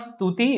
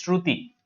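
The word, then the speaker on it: श्रुति: meaning of shruti right it's not stuti it is shruti it's spelt here shruti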